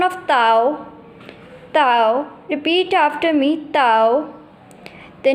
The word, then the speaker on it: dao: Has a pronunciation of Tao, Tao.